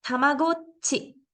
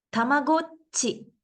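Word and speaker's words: たまごっち: ta ni es decir se pronuncian con un breve espacio entre la sílaba anterior y la posterior tengo que hacer una pequeña pausa entre una sílaba y la otra la única excepción es cuando el pequeño antecede a la sílaba esto no pasa muy seguido Pero podemos tener palabras como tamagochi tamagochi quizás algunas personas que ya son más grandes como yo recuerden este pequeño dispositivo que se llamaba tamago y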